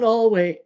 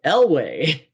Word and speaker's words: Elway: of your tops um the mispronunciation of john elway and the correction by butters in the theme song he loves john hallway elway um that for whatever